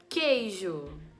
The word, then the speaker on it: queijo: igraf foí agora na palavra queijo queijo eu não escuto o barulho do u eu não falo queijo